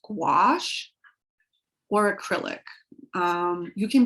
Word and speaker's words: gouache: nobody ever knows how to say but that's pronounced gouache or acrylic um you can buy either or